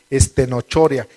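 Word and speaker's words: στενοχωρία: Ahí se usa la palabra griega estenochoria, así como se escribe, estenochoria.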